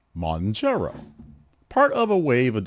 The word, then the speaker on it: Mounjaro: Monjaro, pronounced Monjaro.